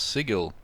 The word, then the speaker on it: sigil: free of course anyway it's supposed to be pronounced sigil dude like Riley's haven't you played Planescape torment